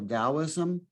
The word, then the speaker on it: Taoism: as is if it's as if it's a d so taoism but um i sure